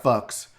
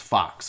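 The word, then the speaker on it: Fuchs: spelled fu CH s so it looks like folks but it's Fox and I have family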